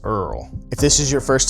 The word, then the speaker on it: IRRRL: I R R L pronounced Earl.